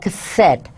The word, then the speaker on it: cassette: they perform better with words such as cassette, whose stressed second syllable is spelled with et. Now they're not putting stress on the third one, but the second syllable is spelled ite. So cassette, et would be.